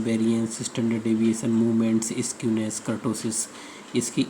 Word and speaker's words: kurtosis: इसको कुछ लोग kurtosis कहते हैं और कर्टोसिस भी कुछ लोग कहते हैं। सही प्रोनाउंसिएशन इसका कर्टोसिस ही है, ठीक है।